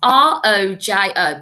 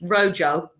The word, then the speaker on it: rojo: at rojo the red you'll notice that rojo is spelled r-o-j-o but we don't pronounce it how he would in english rojo that wouldn't sound right would it so you